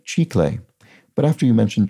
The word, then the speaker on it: chicle: only got trickled because it's the spanish word for gum pronounced like chi clay but after you mentioned chiclets i had a bang